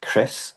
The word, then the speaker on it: Kris: Chris, but it's spelled K R I S.